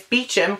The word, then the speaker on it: Beecham: ferry accident hundreds dead DCI Kate's Bosch Beecham I always pronounced that wrong is Beecham Kate's Beecham is one of the